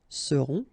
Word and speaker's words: seront: pronounced, then on, on, seront. Vous serez, a Z together at the end, et serez, all right? Ils seront, final T not pronounced, and then you've got this nasal, on, seront, elles seront.